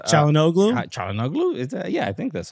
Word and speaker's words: Çalhanoğlu: Why am I forgetting how to pronounce Çalhanoğlu? Çalhanoğlu?